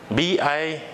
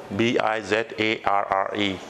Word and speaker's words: bizarre: So B-I-Z-A-R-R-E. And how you'll pronounce that word?